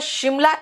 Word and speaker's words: Simla: बेटा शिमला SIMLA बिल्कुल ठीक है, क्योंकि एस का प्रोनाउंसिएशन श भी होता है, जैसे शुगर, जैसे श्योर, ठीक है ना?